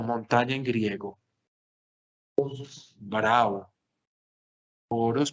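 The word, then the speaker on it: ὄρος: Oros parece como el dios Horus del Egipto.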